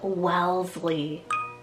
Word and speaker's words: Wellesley: longer option here for a girl guys is Wellesley w-e-l-l-e-s-l-e-y Wellesley this is also so adorable it's so long Wellesley it just has this cute sound I feel